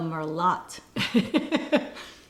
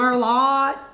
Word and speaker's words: Merlot: She suggests Chardonnay, but he orders the Merlot, mispronouncing the wine with a T at the end.